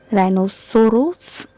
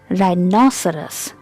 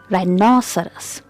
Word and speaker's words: rhinoceros: you pronounce its name rhinosaurus or Ros sorts just learn to pronounce its name correctly it's rhinoceros rhinoceros rhinoceros got it and the stress is on n on the second syllable would you like to